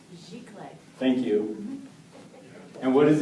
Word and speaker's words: giclée: It's a French word. It is. Pronounced giclée.